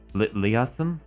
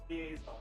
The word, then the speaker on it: liaison: Leasan leasen leis. I forget what a leasen is. I've heard liaison. Liaison. I knew I was pronouncing it wrong.